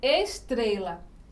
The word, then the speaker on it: estrela: Então aqui, por exemplo, estrela. Tá vendo? É tré. Então é a penúltima.